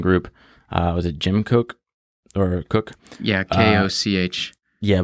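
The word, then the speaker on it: Koch: is inspirational stuff so jim cook spelled like coke uh he he started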